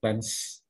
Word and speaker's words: flange: Bacanya beginilah flange.